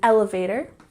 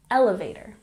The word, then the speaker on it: elevator: to the pronunciation in elevator we emphasize the first syllable elevator elevator and number 13